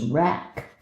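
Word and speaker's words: wrack: I didn't know rack was spelled with a W. W R A C. Rack. Rack and ruin. Sort of like rock and roll or something like that.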